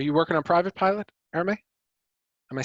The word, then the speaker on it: Arame: Arame, currently taking private pilot lessons. Great. Are you working on private pilot, Arame?